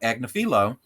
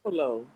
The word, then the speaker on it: Agnifilo: And they actually have Mark Agnifilo deliver, and I said his name right finally.